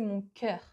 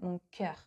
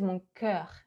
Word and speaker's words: mon cœur: He opens way too much the vowel. We would say mon cœur. See, like that, mon cœur. He says mon cœur. Like, it doesn't sound like mon corps, but that's the way. So it's kind of in between, not very good.